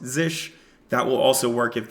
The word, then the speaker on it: zsh: can also use Z zsh which is pronounced zish that will also work